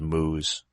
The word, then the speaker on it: MMO: I still halfway pronounce them as moos. Well, it's Moes.